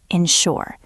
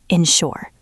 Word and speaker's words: ensure: It starts with N. Insure. The S sounds like sha. Insure.